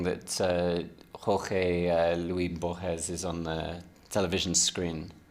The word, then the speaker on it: Borges: Oh, excuse my pronunciation. No, my pronunciation. Your pronunciation is the right. Yeah, Jorge Luis Borges.